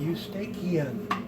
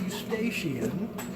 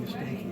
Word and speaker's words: Eustachian: heard of before, the Eustachian tube. Not Eustachian, because how do you pronounce the CH in anatomy? Okay. Now it's like a K, exactly. So the auditory tube is also called the Eustachian tube.